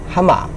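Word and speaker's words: ἅμα: 지금 그래서 가끔 260, 그래서 하마, 왜 하마라고 하냐면 알파인데 역다음표가 있으면 히읗 발음을 해서 아가 아니라 하, 그래서 하마 이렇게 발음한다는 거죠.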